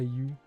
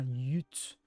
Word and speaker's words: Yutz: Il n'y a pas You. Il y a un TSS. You, pas You. Ah, Yutz.